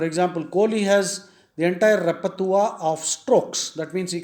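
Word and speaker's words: repertoire: i r repa repa that's a French word the pronunciation is repa the spelling is r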